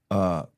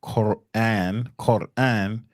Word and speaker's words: Quran: There's a few ways I've heard it pronounced. I've heard the Moore Science Temple members pronounce it Quran. I've heard people from the Al Islam call it Quran. Yes, sir. And I've heard Elijah Muhammad say Kowan, like how you said it. Kowan. I've heard the messenger say it like that.